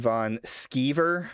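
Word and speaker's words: Van Sciver: Ethan Von Skeever, pronounced like someone who skivvies.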